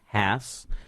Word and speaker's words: Hass: We have Rebecca, and her last name is actually pronounced Hass, by the way, and she is with Capital Title of Texas.